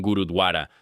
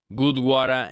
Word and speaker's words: gurdwara: y fue a un gurudwara. Siempre me equivoco al pronunciarlo. Lo voy a decir como creo que se debe decir. Gurdwara en Manchester, y le